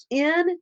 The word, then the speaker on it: Ngaio: It's Ngaio Marsh. Okay. yeah, it's spelled just like it sounds.